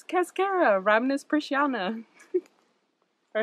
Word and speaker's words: Cascara: And the common name rhymes with mascara. It's Cascara, Rhamnus persiana.